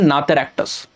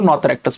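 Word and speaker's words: Notharctus: हम क्या कहते हैं, नाथरैक्टस, ठीक है, कई लोग इसको नाथरैक्टस बोलते हैं, कुछ लोग इसको नॉथरैक्टस बोलते हैं, तो आप जो भी प्रोनाउंस करो करेक्टली इट इज नाथरैक्टस।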